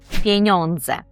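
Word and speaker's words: pieniądze: Почнемо, звісно, що зі слова гроші, яке польською звучить пеньондзе. Пеньондзе. Старайтесь повторювати вголос за мною, щоби тренувати вимову.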